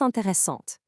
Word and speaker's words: intéressante: In French, when you add that e at the finish line for a female subject like Lisa, it literally forces you to pronounce the consonant right before it. The e makes the t sound pop.